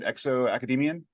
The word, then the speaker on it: ExoAcademian: ExoAcademian?